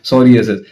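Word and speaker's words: psoriasis: vitiligo witty लगो और प सोरि एसस मतलब पी उसमें साइलेंट होता है सोरि एसस हां जी ये सब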